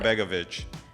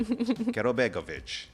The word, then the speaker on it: Karabegovic: Karabegovic. Karabegovic. I like. It's simple. It's simple. I know. I'm going to have to channel Dracula if I'm going to say it like you just did. Karabegovic.